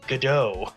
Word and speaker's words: Godot: what his name is godot it's apparently silent how in the [